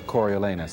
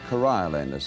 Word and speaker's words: Coriolanus: now and see your Coriolanus. How do you do. pronounce the play? Coriolanus. I think. Coriolanus. He's the hero of Corioli. All right. He's named after the place Coriolanus.